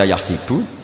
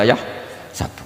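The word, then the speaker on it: يحسب: Karena dalam qiraah sab'ah ada yang baca yahsibu, qiraah kita baca yahsabu. Tapi guru-guru kita kalau ngajar fikih itu bacanya yahsibu. Tapi kalau baca Quran yahsabu. Ya kan Quran kita kan ayah sabu Allah yaqdiru alaihi ahad, bukan dibaca ayah sibu.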